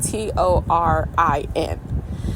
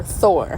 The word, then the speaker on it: Torin: okay he spelled it t o r i n and he specifically told me that Torin is not Tor or Thor how we say it